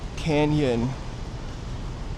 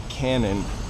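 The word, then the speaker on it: Cañon: Also, there's a street in Beverly Hills called Canyon, because it has a tilde over the N, and everybody pronounces it Cannon.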